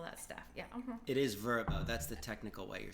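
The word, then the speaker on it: Vrbo: It is Verbo. That's the technical way you're supposed to pronounce it now.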